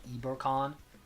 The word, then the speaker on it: Ibercon: Um, so if I'm saying it in like a in like a Spanish accent, I'm going to be saying like Ebercon.